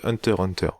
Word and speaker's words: Hunter x Hunter: reprendre la critique de hunter hunter alors déjà on dit en tas donc en fait le x ne se prononcent pas mais voilà avec ma